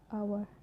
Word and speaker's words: hour: And it's sometimes not pronounced at the start of the word, like honest, hour. And it's sometimes not pronounced at following at this tree, like C, G, R.